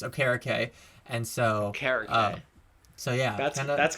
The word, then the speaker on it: Okereke: come out and said that his name is pronounced Okereke. And so so yeah. That's going to take some adjusting, because I have only ever known Kariki.